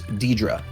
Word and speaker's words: Deirdre: This is where you meet Deirdre. By the way, the way you pronounce right, that yeah. name, the way you pronounce that name is Deidre.